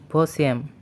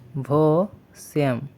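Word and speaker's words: восемь: আবারো বলছি সিয়াম বা সাত পরবর্তী নাম্বারটি হচ্ছে ভসম ভসম ভসম যার অর্থ আট পরবর্তী নাম্বারটি হচ্ছে দেভিয়েত দেভিয়েত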